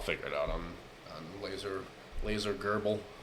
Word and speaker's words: GRBL: No, I'll figure it out on laser Gerbil. Gerbil. That's what it is. GRBL.